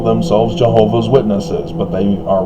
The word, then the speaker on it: Jehovah: do you understand why jehovah's witnesses call themselves jehovah's witnesses but they are wrong in the sense